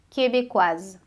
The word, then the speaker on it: québécois: É a mesma coisa que acontece com québécois, québécoise, ok? Québécois, aí a gente não pronuncia o S, québécoise.